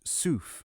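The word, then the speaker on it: صوف: is traceable to the Arabic word pronounced tzuf which literally means wool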